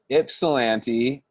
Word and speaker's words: Ypsilanti: Pronounce Ip, not Yip. Thank you, Brian. I appreciate that. Ypsilanti.